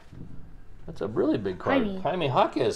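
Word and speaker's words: Jaime Jaquez: a really big card haime hakz silver king that's not haime honz where did he play college do you know say James he doesn't know that's how you pronounce it haime haime hakz he play at UCLA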